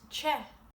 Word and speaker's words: te: The word for hot is ch.